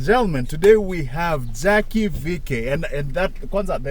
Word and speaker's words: Vike: today we have jackie vk and and that concept the pronunciation of the last name we are doing it right you are you are fantastic many people say vicky jackie vk in the